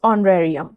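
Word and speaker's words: honorarium: Next word is ऑनरेरियम। ऑनरेरियम। ऑनरेरियम। एच ओ एन ओ आर ए आर आई यू एन। ऑनरेरियम एक noun है जिसका अर्थ होता है मानदेय।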